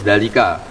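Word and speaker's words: ذلك: Terus sampean kalau nulis dalika dalal lam kaf dalalnya ada alif apa gak? Gak kan? Tapi baca dalnya panjang enggak? Panjang bacanya kan dalika.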